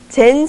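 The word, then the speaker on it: 禅: kib 인테리어 뉴스 김지은입니다 젠 스타일이라고 들어보셨을 겁니다 젠은 선의 일본식 발음으로 선의 아름다움과 심플함을 추구하는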